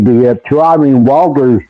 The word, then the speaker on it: Walder: I I I heard it pronounced Welder.